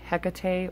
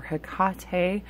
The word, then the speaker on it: Hecate: And I will say that I do have a soft spot for Hecate or Hecate, however you choose to pronounce her name.